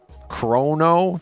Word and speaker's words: Chrono: Tactics and Mario RPG and Corona Trigger. Corona. Corono chrono trigger. I've got to learn to say that right. I keep saying it wrong.